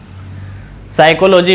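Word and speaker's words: psychology: इसको हम एक उदाहरण से समझते हैं, जैसे साइकोलॉजी। साइकोलॉजी में पी लिखा तो जा रहा है लेकिन उच्चारण में पी का उच्चारण कहीं नहीं आ रहा।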